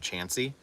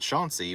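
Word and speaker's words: Chauncey: there's also a little town outside Athens called chansy and if you pronounce it Shanty we know you're not from there um but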